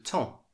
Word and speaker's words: temps: demain après demain le tan tan et masculin mais il ya toujours un s attend le temps est invariable le temps